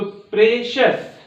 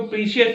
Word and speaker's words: precious: फिर दिया हुआ PRECIOUS, सस, तो प्रेशस, क्या रीड करेंगे इसको, प्रेशस, नॉट प्रीसियस। कुछ लोग इसको प्रीशियस बोलेंगे, तो प्रीशियस रॉन्ग हो जाएगा, क्या हो जाएगा, प्रेशस, ठीक है।